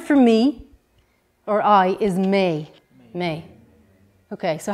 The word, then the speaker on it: mé: Right, the word for me or I is may.